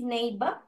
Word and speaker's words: neighbor: What is neighbor? What is the meaning of பக்கத்து வீட்டுக்காரர் miss. பக்கத்து வீட்டுக்காரர். Neighbor. Neighbor அல்ல, neighbor. Neighbor. You have to pronounce it like neighbor. Neighbor. இந்த R வந்து silent.